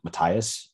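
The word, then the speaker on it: Mathias: for anyone unaware of what's happening paul's brother matthias that's how you pronounce his name him and i guess a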